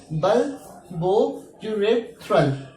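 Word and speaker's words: bulbourethral: The pronunciation is बल्बोयूरेथ्रल, बल्बोयूरेथ्रल gland.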